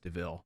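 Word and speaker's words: de Vil: notorious villain that we all know as cruella deville um it's it's spelled devil but pronounced deville that's clever so initially going into this i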